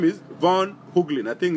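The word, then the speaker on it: Von Heuglin: Von Hooglin is spelled V-O-N.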